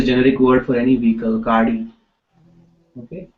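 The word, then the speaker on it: गाड़ी: Okay g okay um this du is difficult to pronounce uh for mostly English uh speaking people so you know even if you say gari uh you know I will encourage to to to say the g okay but if it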